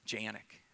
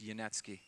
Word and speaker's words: Janecky: American way huh yeah Janik no it's yanetsky say again so some